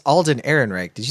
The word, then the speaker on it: Ehrenreich: And so I think as far as and you said criticisms, it's Alden Ehrenreich. Did you say Erdrich? I knew I was going to mispronounce it, so might as well just go all the way with mispronouncing.